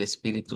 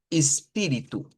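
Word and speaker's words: espírito: portugués eh de Brasil, la ES al principio se puede pronunciar como es y se puede pronunciar como IS, más comúnmente como IS. Entonces, esto más frecuentemente eh un nativo hablante nos lo va a decir espíritu, espíritu, pero podemos encontrar variantes que digan con e y que lo digan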